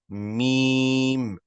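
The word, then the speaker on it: ميم: Its name is meme. Meme. I think that's a simple one, right? Can everyone pronounce that once, please?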